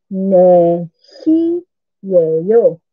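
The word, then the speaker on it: 네 시예요: Ang net, supposed to be 4 is net. Yung T, hindi na nabibigas. Nagiging silent letter na yun siya. Kaya, ne na lang ang bibigkasin natin for 4 o'clock na sagot doon.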